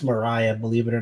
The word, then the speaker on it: Black Maria: that's that is the black mariah everyone is like black maria it's pronounced mariah believe it or not